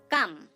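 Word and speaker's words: come: Next উদাহরণ দেখুন, কাম। কাম, দেখুন এখানেও আমরা সি এবং ও লেটারটিকে খুঁজে পাচ্ছি, এখানে তার উচ্চারণ ক করছে ঠিকই, কিন্তু তার সাথে একটা স্বর যুক্ত আছে, সেটা হচ্ছে আ।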